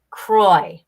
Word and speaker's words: Croix: word I apologize yeah it's Saint Croix Kroy okay so the Saint